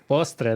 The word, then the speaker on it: postre: Postre. Postre. There you go. Did I pronounce that right?